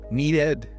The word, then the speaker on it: needed: Or the word need. It ends in a D. We add the beat. Needed.